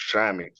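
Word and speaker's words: chamois: musk ox all right a choise that's pronounced shami shimi shami shami yeah just like that Shamy so that's a Shamy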